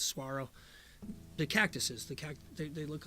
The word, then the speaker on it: saguaro: learn I'll learn there it's it's spelled saguara but I think it's Saguaro the cactuses they look